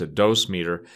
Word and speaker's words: dosimeter: around nuclear materials usually have a dosimeter some people pronounce a dose meter it which is basically